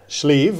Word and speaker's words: Sliabh: So how do you pronounce it right? Schleave as in the sleeve of your shirt.